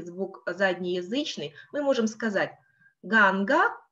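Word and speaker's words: गङ्गा: Первая «а» будет короткая, тогда как вторая будет длинная.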